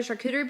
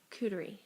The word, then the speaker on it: charcuterie: Cooterie. Oh. Coot. The CH at the front is the ch, and then it's the coo. Charcuterie.